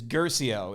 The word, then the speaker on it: Guercio: I want you to help me pronounce your last name. I get this all the time. Yeah. It is Guercio.